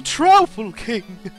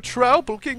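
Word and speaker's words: Troupple King: All hail the Trouble King! What? You've never heard of the Trouble King? Half trout and half apple, pronounced like mouthful.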